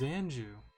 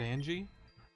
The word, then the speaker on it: Anju: to sheridan village children my name is anju and you not angie i'm surprised you know